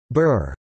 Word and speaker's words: Bur: A peasant is called a Bauer in German and Burr in Low German, pronounced in English like Boer.